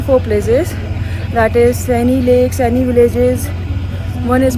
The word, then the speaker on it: Sani: सो हम अपने home stay से निकल कर सेनी लेक आए हैं। इसको प्रोनाउंस ऐसे करते हैं सेनी लेक एंड सेनी विलेज।